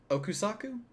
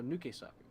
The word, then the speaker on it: Nukesaku: Okusaku? No, Nukesaku.